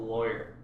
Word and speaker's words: lawyer: How do you guys pronounce the first syllable of lawyer? Like, rhymes with boy, rhymes with flaw.